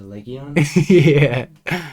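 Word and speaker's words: Legian: It's spelt Legion, but it's definitely Legion.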